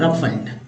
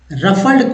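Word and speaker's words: ruffled: आवृति हीन नेक्स्ट है रफल रफल्ड को क्या बोलते हैं चिंतित व्याकुल या अशांत को रफल्ड कहते रफल्ड राफेल नहीं बोलेंगे ठीक है जहाज वाला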